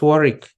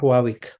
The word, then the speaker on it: Warwick: Okay, it's Warwick, not Warwick. UK has very funny pronunciation.